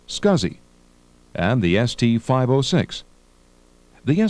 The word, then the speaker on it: SCSI: available for the amiga the SCSI which stands for small computer system interface is pronounced scuzzy and the st 506